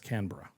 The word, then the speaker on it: Canberra: No, it's Canra. Is that how you pronounce it? Yeah. Canberra Canra. So it's like Melbourne sort of in that way where it doesn't look like it's spelled.